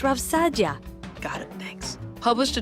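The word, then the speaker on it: Rav Saadia: Rav Sayadia, for example, It's pronounced Rav Sadia.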